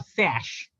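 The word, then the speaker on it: Saysh: created her own brand called s-a-y-a-s-h or sash okay mainly the pronunciation is sash with the tagline i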